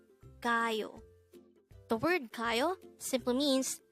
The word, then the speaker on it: 가요: number 266 k k this is pronounced as a two syllable word the first syllable is GA second syllable is Yu pronounce it with me c CAO the word CAO simply